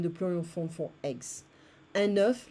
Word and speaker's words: œuf: Un œuf, like the number 9, un œuf, des œufs.